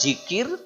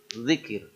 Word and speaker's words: zikir: Kita banyaknya jikir atau dikir. Nah, yang betul zikir.